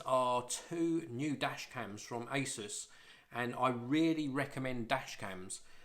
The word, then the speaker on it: Asus: These are from Asus or Asus or StarTech, however you want to pronounce it. I call it Asus.